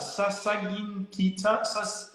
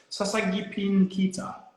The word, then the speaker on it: Sasagipin Kita: How do you pronounce that? Sasagin Kita? Sasagipin Kita. Yeah, that's pretty good.